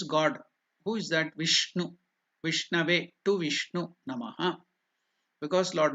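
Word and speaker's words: विष्णवे: Vishnave, Vishnave. The N is pronounced differently. It is not the Na. It is Ana. The tongue should touch the palate above. Murdhanya. Ana. Vishnave.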